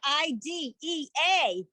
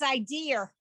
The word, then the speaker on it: idea: who like to say pronounce the word i-d-e-a as if it's idea and it's not it's idea and um you know